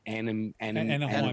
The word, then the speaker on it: Anaheim: The Anaheim, as in Disneyland. When I read the article. Yeah, as in Disneyland, Anaheim, California. Anaheim, that's it.